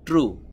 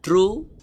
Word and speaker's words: true: এই শব্দটি সঠিক হবে, প্রথমে যে ভাওয়েলটি এসেছে এটার উচ্চারণ করবেন। যেমন TRU, ট্রু, ট্রু উচ্চারণ করবেন। এখানে এই ইটার উচ্চারণ করবেন না। ট্রু শব্দটির সঠিক উচ্চারণ হবে ট্রু।